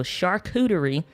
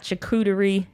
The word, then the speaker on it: charcuterie: word for 45 minutes so charcuterie that's what her channel is about not chikutari not chikira not churros charcuterie so thank you jordan